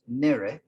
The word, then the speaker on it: nere: And then the negative of that is nere, which is nary, something.